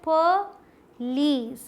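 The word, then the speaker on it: police: पुलिस बोल देते हैं, इसमें कोई मात्रा नहीं आती यहाँ, आप ये समझिए ये क्या है, पुलिस, पुलिस, ठीक, पुलिस, स्ट्रेस लीस पे, पुलिस, प जल्दी से, lease, पुलिस। Next is this one, जिसे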